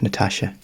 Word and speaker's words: Natasja: I think it's spelled it's a Natasha like a Natasha name you know n-a-t